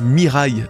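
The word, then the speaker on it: 未来: Le futur en japonais se prononce Mirai, donc dès à présent,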